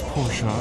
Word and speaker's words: Porsche: It's Porsche. Porsche.